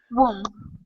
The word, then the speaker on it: womb: Now that last word is pronounced ooh, woo, womb. Womb. Yeah, instead of womb, womb.